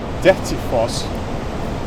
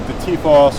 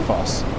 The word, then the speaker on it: Dettifoss: later in the word, Icelandic will always emphasize them the very first syllable. Okay. So, for example, the name of the waterfall just down the river here is Dettifoss, right? Not something like Dettifoss or Dettifoss. Dettifoss.